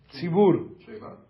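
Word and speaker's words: צבור: Como se escreve congregação? Como se fala em hebraico? Tzibur.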